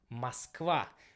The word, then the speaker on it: Moskva: So in Russian it will be pronounced as Moskva, because the stressing will be on the last part. In the first case we have O without a stress. So that's why it will be like this.